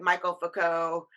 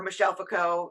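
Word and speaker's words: Michel Foucault: france actually with like michael foucault and uh or michelle fico i believe it's how you properly say his name and uh daradah and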